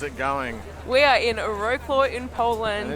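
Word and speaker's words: Wrocław: The first thing that we learned was that it's not actually pronounced Wroclaw. Wroclaw. Wroclaw. There you go.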